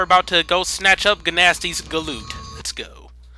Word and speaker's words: Gnasty: to go snatch up ganasti's galoot let's go i don't know why i'm going on with the hard g sound thing i guess just because